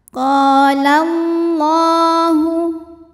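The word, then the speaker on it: قال الله: Qala Allahu. Lam jalalah dibunyikan secara tafkhim, sebab harokat huruf sebelumnya fathah. Cara membacanya, lam dibunyikan dengan tebal. Qalallahu.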